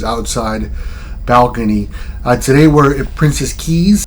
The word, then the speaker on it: Princess Cays: balcony today we're at princess Keys that's what the locals and staff calls it is spelled princess case c-a-y-s uh it's kind of